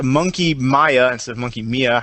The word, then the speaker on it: Monkey Mia: any answer that that it is actually pronounced a monkey Maya and sub monkey mia